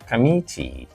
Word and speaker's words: commit: we have Commit Commit This is not commit it is not commit or commit no it's not stressed on the first syllable it's not stressed on the last syllable it is not commit first syllable no it is not K last syllable no it is Kam K second syllable please do not confuse